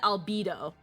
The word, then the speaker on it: Albedo: It's pronounced albedo or albedo. Xenosaga pronounces it albedo. So I'm just gonna say it the way they pronounce it.